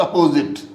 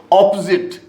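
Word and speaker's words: opposite: ऑपोजिट नॉट अपोजिट. Correct pronunciation is ऑपोजिट. यहाँ पर ओ नहीं है, आ है.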